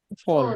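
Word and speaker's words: voll: V is pronounced the way F is pronounced in English. Fur. So if there is a word like this, Rhizopus. Pole. Pole. how would you pronounce this word? V-O-L-L? Fall.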